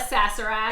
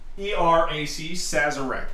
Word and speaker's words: Sazerac: even pronouncing it right i call it a sassarat s-a-z-e-r-a-c sazurek i think so i've never actually ordered